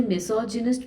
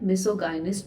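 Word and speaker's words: misogynist: इसे मिसोजिनिस्ट भी पढ़ते हैं, मिसोगाइनिस्ट भी पढ़ते हैं, दोनों ही प्रोनाउंसिएशंस जो हैं वो एक्सेप्टेबल हैं।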